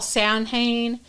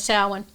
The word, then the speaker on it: Samhain: but it's pronounced samhain um some people call sanhane but uh the correct correct pronunciation is salwin and it started about 2 000 years ago